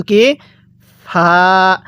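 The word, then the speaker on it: ق: হরফটির নাম হলো কফ কফটা উচ্চারণ হবে জিহ্বার গড়া ও সেই বরাবর উপরের তালু হইতে কফ এরকম ভাবে উচ্চারণ হবে এরপরে কাফ হ্যাঁ কিভাবে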